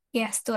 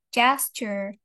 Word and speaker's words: gesture: Biasanya kalau pronunciation bahasa Indonesia kita biasanya bilangnya gesture ya. Gastur atau tindakan. But in English it's je gesture. Jesture.